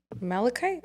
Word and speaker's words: malachite: Pronunciation. Oh my god, it's gorgeous. Malachite?